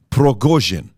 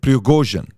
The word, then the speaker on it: Prigozhin: Number one, the guy behind Wagner Group is a guy named, I want to pronounce this correctly, Yevgeny Prigozhin. Okay, Prigozhin, that's his name, Yevgeny Prigozhin.